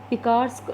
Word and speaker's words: picaresque: ठीक है, पिकार्स्क की स्पेलिंग यहाँ पे बता देती हूँ, PICARESQUE। पिकार्स्क नॉवल इसको बोला जाएगा।